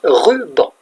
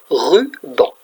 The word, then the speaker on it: ruban: Ruban. Deux syllabes. Ruban. Ruban. Rue, comme la rue des voitures, et banc, comme le banc où on s'assoit. Regardez, pour faire le mot ruban, je prends rue et banc.